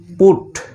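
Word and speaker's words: put: তো এখানে একটি ব্যতিক্রম শব্দ রয়েছে, সেটি হলো পিইউটি পুট। এটার উচ্চারণ পাঠ না হয়ে পুট হবে। তো এই শব্দটি একটু তোমরা মনে রাখবে, এখানে পাঠ না হয়ে পুর উচ্চারণ হচ্ছে।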